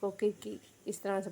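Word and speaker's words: Circe: उसके बाद, हमारे पास सर्सी है। ठीक है? ब्रिटिश उच्चारण 'सर्स' है। और अगर हम ग्रीक उच्चारण देखें तो इसे किरके पढ़ा जाता है। देखो, वहां 'क ' की ध्वनि आती है।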